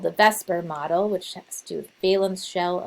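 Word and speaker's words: VSEPR: of molecules called the vesper model which has to do with balum shell electron repulsion theory and it's actually ver p but everyone pronounces it vesper and uh so these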